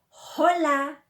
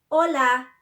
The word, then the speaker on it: hola: You don't pronounce it like, you don't say hola. You shouldn't say hola. It's not hola, it's hola. Hospital is not hospital, it's hospital. They just start from the O, okay?